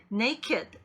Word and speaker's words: naked: 로 끝날 뿐 입니다 그래서 발음도 에 기존의 동사의 적용되는 그런 반응 게지 따르지 않고 네이키드 make 이렇게 발음이 되요 네 개의 매개 얘기합니다